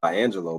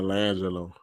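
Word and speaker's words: LiAngelo: I think his name is Angelo Ball, right? Yeah, Langelo. Yeah.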